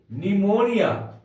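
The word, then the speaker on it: pneumonia: ओ एन आई ए निमोनिया निमोनिया क्या पढ़ेंगे हम लोग पी एन ई यू एम ओ एन आई ए निमोनिया इसमें पी साइलेंट है इसका अर्थ होता है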